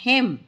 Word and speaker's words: hymn: और आज हम करने जा रहे हैं क्लास 8 इंग्लिश पूर्वी unit number 4 environment poem harvest हिम। हिम क्या होता है? इसमें इन जो है वो साइलेंट है और हिम होता है अ रिलीजियस सॉन्ग और poem of praise to गॉड।